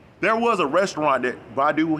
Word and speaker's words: Badu: was a restaurant that badu had not baidu brother polight had a